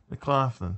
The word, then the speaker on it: McLaughlin: It's not Mick. It's Mac. McLaughlin.